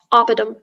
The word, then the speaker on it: oppidum: Oppidum. Am I pronouncing it correctly? Sounds right to me. Oppidum.